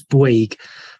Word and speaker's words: Bouygues: Well, I very kindly, Councillor Stinchcombe has reminded me, and I was taught this by Miles and probably forgot, it's Bouygues. Boyd, okay, fine, thank you, there you go.